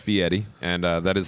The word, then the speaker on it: Fieri: It is actually pronounced Fieri, and that is how Guy likes to have his name pronounced.